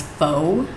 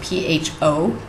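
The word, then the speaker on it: phở: Most of you probably pronounce it as pho. It's spelled P-H-O. It is not pronounced like that. It's pronounced pho. Just kind of think you're saying the F word and then stop before the K.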